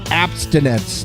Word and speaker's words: Appstinence: right well let's talk abstinence no no no no no no no I'm not saying it wrong it is app as in those applications on our phone and everything see apparently